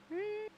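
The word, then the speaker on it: Hung: seconds this time yeah hang yeah Wango mhm Wang Wang what I wasn't sure yeah it's hang h u n g pronounce it like that and you're good to go the o or the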